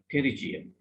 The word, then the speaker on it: pterygium: what we mean by pterygium. දැන් මේක ඔයගොල්ලන් pronounce කරන්න දැනගන්න ඕනේ. ලියන්නේ මේකේ P එක silent. Right? P silent. Pterygium. So we pronounce it as pterygium.